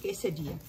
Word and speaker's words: quesadilla: इसको लिखते हैं quesadilla, लेकिन इसको प्रोनाउंस करते हैं quesadilla।